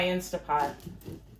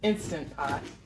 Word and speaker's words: Instant Pot: is why I like my insta pot instant pot I always pronounce it wrong you just want